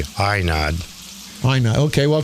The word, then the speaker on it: Ainad: It's spelled A-I-N-A-D, Ainad.